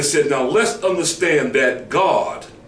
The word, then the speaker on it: Gad: now let's understand that God spelled g-a-d see let's understand that Gad pronounced God was a child then